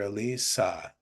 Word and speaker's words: Elisa: Yes, see, because it can be anything, right? It could be Eliza, Elisa, Eliza, but you're Elisa.